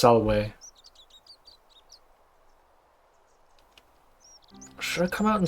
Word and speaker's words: Salve: Salve, stranger, and welcome. He's still to our pronouncing it little wrong. Slice of the Empire. It's Salwe.